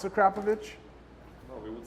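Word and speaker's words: Akrapovič: But do you know how to properly pronounce Akrapovic? No, we would say Akrapovic.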